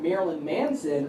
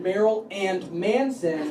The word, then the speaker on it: Marilyn Manson: than music fans give you an example I mispronounced the name of the band Marilyn Manson for about a year I called it Meryl and Manson that's a mere vaudeville act no one